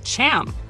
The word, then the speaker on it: Ham: skin color in Hebrew the name ham ham pronounced as Cham is often interpreted to mean hot or heat